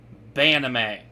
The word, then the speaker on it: B'anime: It's pronounced Banime. As in, anime we should ban, because tonight we are going to be complaining.